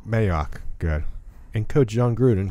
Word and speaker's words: Mayock: Mike Mayock. Mayock, good.